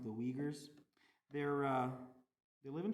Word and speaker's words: Uyghurs: euger u y g h u r it's pronounced the uyghurs they're uh they live in china they're from